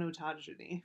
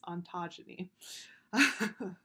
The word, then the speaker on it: ontogeny: next is a concept called ontogeny i always pronounce that incorrectly i always want to go on on autogeny but it's ontogeny and that's basically understanding the development of of